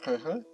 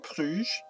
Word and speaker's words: Brugge: We are still waiting on coring Brugge. I always want to say Bruges because I'm from Canada, right? We learned the French way to pronounce this, but that's not actually fair to the Flemish people.